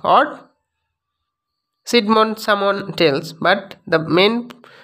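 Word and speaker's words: Cædmon: way droppingly spirit old english playhead that is kate mon or sidmon someone tells but the main actual pronunciation is kate moon old english themes of poetry the old english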